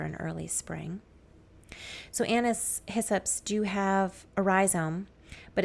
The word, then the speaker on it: hyssop: And you can see about 1 inch tall, there are little Anise Hyssops coming up. Hyssop. Say hyssop. That is the way it is pronounced.